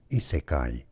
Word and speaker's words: isekai: Isekai.